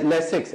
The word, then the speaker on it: Lasix: तो इस वजह से हाँ उसकी स्पेलिंग है LASIRS। ठीक है, LAFIS। हाँ लेक्सन है शायद, लेक्सिन, जी जी लेसिक्स, LASIX।